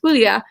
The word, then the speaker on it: Julia: became her mother friends didn't even take the time to learn how to pronounce her name as Hulya and said they called